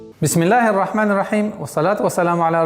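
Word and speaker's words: بسم الله: Бис, миль. Перепрыгиваем сразу на букву лям. И автоматически аннулируется артикль, так как третья буква, солнечная буква. Бисмиллахи. Бисмиллахи.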